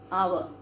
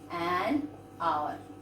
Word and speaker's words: hour: Then hour. We never say hour. We say an hour.